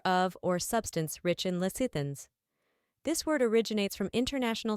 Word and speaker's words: lecithin: Lecithin, a noun meaning any of several waxy hygroscopic